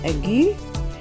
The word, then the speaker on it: aigu: Okay, and when you have that particular accent, which is pronounced aigu, you have the accent looking kind of like a slash that we would use on the keyboard over the letter.